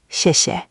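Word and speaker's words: 谢谢: The first 谢 takes a falling 4th tone, sharp, like you're gently scolding someone. The second 谢 is light and neutral, almost swallowed. Listen. 谢谢. You're getting better each time. Just let that second syllable fall away even softer. Don't give it equal weight.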